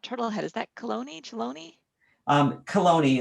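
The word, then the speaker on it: Chelone: head is that cologne chaloney is more correct than chiloni but it's it's spelled ch just to kind of give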